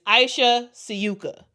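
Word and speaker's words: Ajša Sivka: It's just that it seems like the pronunciation for her name is Aisha Suka. I will pronounce it as that.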